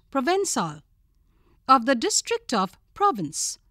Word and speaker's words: Provençal: Provençal, pronounced Provençal, of the district of Provence in France, known for its bards and its grapevines.